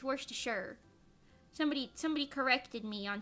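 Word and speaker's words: Worcestershire: is wor to sure I used to think it was wor to Shire but it's worse to sure somebody somebody corrected me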